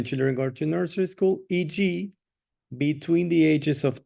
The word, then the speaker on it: e.g.: This is pronounced E-G. E-G. Okay. Okay, very simple. Just the letter E and the letter G.